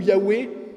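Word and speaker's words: Yahvé: est et qui sera et la prononciation de ce mot parce que bon c'est une petite chose mais on la connaît cette prononciation les Hébreux vers à l'époque de Jésus ne la faisaient plus par crainte d'utiliser le nom de Dieu en vain mais on sait que c'était Yahou Yahoué parce que simplement nous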